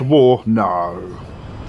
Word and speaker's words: WARNO: game is that yes it's pronounced war no no like i thought it